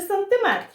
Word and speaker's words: сантиметр: Сантиметр чи сантиметр?